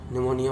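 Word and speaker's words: pneumonia: जैसे honour, honour माने सम्मान, आवर माने घंटा, निमोनिया, निमोनिया में P साइलेंस वर्ड है, फेफड़ों की सूजन को कहते हैं।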